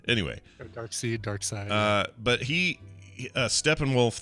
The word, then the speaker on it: Darkseid: i always say darts i always say dark seed but it's pronounced side anyway dark seed dark side uh but he uh